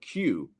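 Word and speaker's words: queue: sound and I mean the funny thing about the word q is that pretty much every every letter in the word q except for the letter Q is silent um so the the whole word except for the rest is just the first letter which is quite funny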